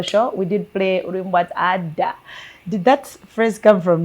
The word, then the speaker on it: Ada: And actually, it's not Ada. It's actually Ada. It's actually a name. It's a Nigerian name.